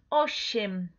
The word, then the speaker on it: osiem: Entonces, osiem, ¿sí?